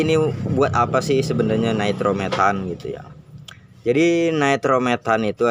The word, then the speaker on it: nitrometane: Nah, di sini saya mau menjelaskan tentang nitrometan ya, alias yang ditulisannya itu kayak gini. Nitrometane, dibacanya nitrometan.